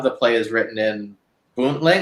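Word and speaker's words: Boontling: play is written in buntling is that how it's pronounced exactly i say it bootleg yeah which is the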